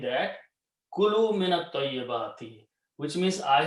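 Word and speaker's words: كُلُوا: When you put a wow, it becomes a plural and it is pronounced as kulu.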